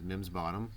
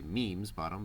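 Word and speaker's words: Meem's Bottom: which referred to as mims bottom spelled m e e m apostrophe s which you would think would say memes bottom but local colloquial pronunciation so all of this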